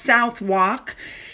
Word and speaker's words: Southwark: On the 12th, she visited the Unicorn Theater in, I think it's pronounced Southwark.